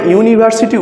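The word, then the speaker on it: university: দেখো কি আছে ইউনিভার্সিটি তাহলে যখন আমরা ইউনিভার্সিটি উচ্চারণ করছি তখন প্রথমে কি আসছে ইউ আসছে দেখো ইউনিভার্সিটিকে যদি বাংলায় লিখি ইউ হসই হস ইউনি ভার্ব সিটি তাহলে কি আসছে প্রথমে প্রথমে দেখো ইউ আসছে তাহলে আমি তো বলাই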